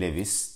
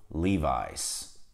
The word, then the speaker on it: Levi's: var O yüzden bunu araştırdım Aslında iki farklı telaffuz eğilimleri oluyor birisi Lewis gerisi Levi's bu markanın doğru telaffuzu Levi's Levi's Ama şunu söyleyeyim arkadaşlar Türkiye'de ben şuna